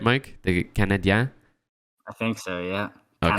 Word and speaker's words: Canadiens: The Canadiens? I think so, yeah. Okay. Canadiens.